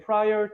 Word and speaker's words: prior: 무슨 뜻 이전이란 뜻이에요 발음 유의하셔야 되는게 prial to 여러분들 디테이션에서 의외로 꽤